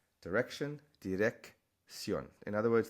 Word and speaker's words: dirección: Direction, dirección. In other words, the first C is a hard sound, and the next one is that S sound.